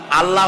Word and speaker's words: আল্লাহ: আল্লাহ বলেন তো আল্লাহ আল্লাহ নয় কিন্তু আল্লাহ হচ্ছে অশুদ্ধ শুদ্ধ হচ্ছে আল্লাহ বলার সময় মুখটা গোল হয়ে যাবে বলেন তো সবাই উচ্চারণ